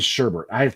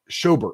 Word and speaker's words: Schobert: I keep saying Sherbert. It's Schobert, I think is how you say it.